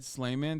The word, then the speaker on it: Sleiman: trussle on the show his name is pronounced Jed slayman the arbitration agreement mandated